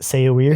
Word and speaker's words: Saoirse: I always pronounce it Saoirse, but I know that's not Saoirse. It's Saoirse.